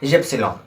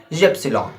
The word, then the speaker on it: Ypsilon: Okay, the next word is, and the second last word is Y, and in German we said Ypsilon. Y as Ypsilon.